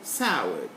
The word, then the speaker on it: soured: are the four letters there will give us the sound d simply don't go about finding